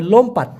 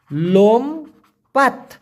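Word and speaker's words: lompat: ওটাকে আবার বলা হবে লোমপাত এল ও এম পি এ টি উচ্চারণ হবে লোম পাত লোমপাত মানে লাফানো আর তেরুন মানে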